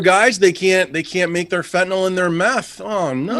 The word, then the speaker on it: fentanyl: So apparently, shortages of, how do you pronounce that? Fentanyl.